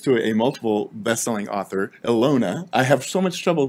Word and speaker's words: Ilona: a multiple best-selling author elona i have so much trouble pronouncing your last name she's like just call me alona it's like beyonce and michael butler michael